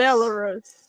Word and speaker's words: Belarus: Yeah, Fire keeps mispronouncing my country's name. Where It's the Belarus, Fire. Belarus. It's Belarus.